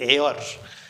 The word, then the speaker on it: heir: are getting my point HEIR students HEIR रो pronunciation cone students HEIR means student air यार pronunciation कोन students air हुए तो air जदि एटा